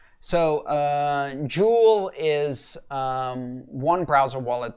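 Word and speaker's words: Joule: mistaken it's pronounced j-o-u-l-e like the um like the international metric system measure of energy so uh jool is um one browser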